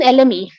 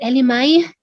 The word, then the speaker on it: elemi: you know what even elemi when i talk about lm to all of these foreign um certified aromatherapists they don't even know how to pronounce it sometimes they call it element i mean no judgement